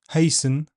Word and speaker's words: hasten: In words ending STEN, fasten, hasten, listen, and in some imported French words such as ballet and chalet.